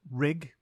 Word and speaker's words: rigorous: It is pronounced rig-us and is spelt R-I-G-O-R-O-U-S.